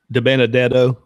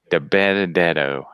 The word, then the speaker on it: DiBenedetto: is great how do you say his name DiBenedetto DiBenedetto yeah so he you know that is a